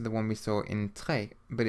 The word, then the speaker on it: très: The letter E with a grave accent, like the one in très, should be pronounced like the E sound in the English word fed, so très.